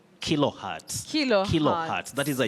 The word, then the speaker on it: kilohertz: Schizophrenia, we have a Z, Kilohertz. but it takes the sounding ts. So All right. kilohertz, not Kilo. kilohertz.